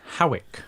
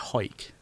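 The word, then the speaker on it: Hawick: town you pronounced it because I was going to say Howick well you see that's how everybody pronounces it but it's actually a hike like I'm gonna hike my bricks up presumably it needs to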